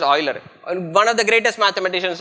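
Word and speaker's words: Euler: have heard his name uler we call his name in a very different way in India but his name is pronounced as Oiler one of the greatest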